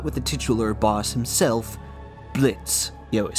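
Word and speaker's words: Blitzø: Speaking of the cast, let's start with the titular boss himself, Blitz. Yo, is silent.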